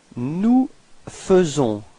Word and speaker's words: nous faisons: Nous faisons. So here it's quite tricky because actually we write it A-I, faisons, but then we pronounce it faisons. Okay, and then final S is not pronounced.